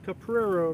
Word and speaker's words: Caprero: Caprero rhymes with Camaro.